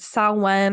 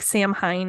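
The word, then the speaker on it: Samhain: is the Halloween Allstate saw one or it looks like Sam Hein if for how it's spelled but so it's typically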